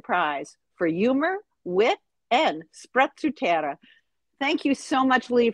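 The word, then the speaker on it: sprezzatura: to the storytellers microphone you were the first person i've ever spoken to that that pronounced that word correctly in italian everybody's like special torah i mean it just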